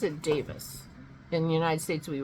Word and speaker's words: Davies: on that Allan Davis and he spells Davis d a v i es and I don't but he pronounces it Davis in the United States we would pronounce that